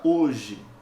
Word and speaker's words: hoje: fonemas eu tenho aqui cuidado porque a letra h não representa fonema nessa palavra né ela só é